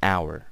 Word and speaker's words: hour: sir or it's an hour okay so an honor an hour we use an but if the H